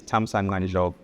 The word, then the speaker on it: Thamsanqa: There are a lot of clicks. For example, the X is a click, the C is a click, the Q is a click. So